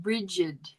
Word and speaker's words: Brigid: And it is, you're supposed to pronounce it Brigid. Or Breejid.